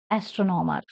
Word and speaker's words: astronomer: signs of scientist so stress the third syllable from the end for example astronomy astronomer say the words for the